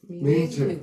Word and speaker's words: 名字: 자, 그거를 명즈라고 할 필요 없이 경성이니까 字 하지 마시고 字 해서 명즈, 名字， 명즈. 名字， 네.